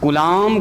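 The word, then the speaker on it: Coulomb: हिंदी में लिखेंगे तो कूलाम का नियम, बी साइलेंट होता है, कूलाम का, कूलाम ऐसे, है ना।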